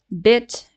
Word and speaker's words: bit: look at words like bit and beat right the first one has a short uh vowel bit and the second one has a long sound beat right so if we